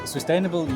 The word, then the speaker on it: Swisstainable: Well, Swisstainable, you have pronounced it correctly.